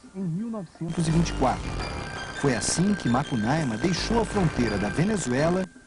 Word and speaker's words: Makunaima: é a nossa região é assim que se pronuncia Esta palavra do dialeto aruna makunaima é como dizemos no sul do país duas pronúncias diferentes para um herói de muitas Faces os índios dizem que